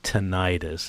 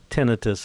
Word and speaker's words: tinnitus: there's an inflammation and it's not necessarily tinnitus it's tinnitus is the correct pronunciation but it just means